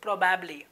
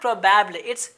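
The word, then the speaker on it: probably: हैं एक संभावना व्यक्त करने के लिए इसकी स्पेलिंग है पीआरओ बेबी Alva Edison प्रोबेबली Jansath it's नॉट प्रॉब्लम प्रॉब्लम प्रॉब्लम प्रॉब्लम करत के बाद कोंबिनेशन से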